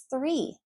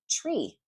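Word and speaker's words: three: 3, the number 3. If you don't pronounce TH, you're saying tree. Well, tree is in a park, tree is in a forest. Very, very different.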